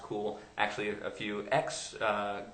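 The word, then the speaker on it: Cuil: engine called cool um spelled CU i l but pronounced cool actually a few ex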